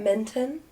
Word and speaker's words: Minton: I get Minton. But it's like Minton. mint and on. Right? Yeah. That's how it's spelled? Mint and on, yes. Mint and on. Not we're mitten.